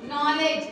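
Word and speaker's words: knowledge: नॉलेज, क्या, नॉलेज, जिसकी जरूरत सबको है, ठीक, बाद अगर कोई भी वावेल शब्द आ जाता है तो के साइलेंट हो जाता है, समझ में आ गया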